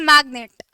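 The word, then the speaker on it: magnate: have got इज मैग्नेट इसको भी मैग्नेट बोलते हैं और वो दूसरा वाला चुंबक वाला मैग्नेट भी होता है तो कंफ्यूज नहीं होना स्पेलिंग दोनों की अलग-अलग है ये नहीं कि मैम उस वाले मैग्नेट की जगह ये मैग्नेट लिखा है और ये मैग्नेट की जगह वो वाला मैग्नेट लिख के आ आ गया ठीक स्पेलिंग दोनों की अलग होती है प्रोनंसिएशन सेम होता है मैग्नेट क्या वेल्थी और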